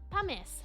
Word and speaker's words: pumice: Pronounce pumice. First syllable rhymes with bum.